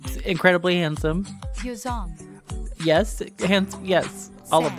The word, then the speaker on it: Yeosang: pronounce their names. Hi, my name is Seonghwa. My name is Hongjoong. And Yunho. And Yeosang.